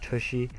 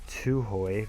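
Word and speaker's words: Tuohy: You guys are going to see here I do sign my first scout, Josh Tushy. or Tuhoy rather. Completely mispronounced his name the first time, but scout from England,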